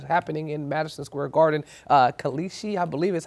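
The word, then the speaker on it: Kalshi: And so you have that company that had the ad running while Trump's speech is happening in Madison Square Garden, Kalishi, I believe is how you pronounce it.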